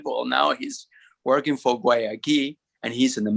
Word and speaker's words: Guayaquil: And I say, well, imagine a door and a key, Guayaquil.